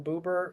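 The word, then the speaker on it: Buber: I think it's I think it's pronounced Bubber or Martin Booer.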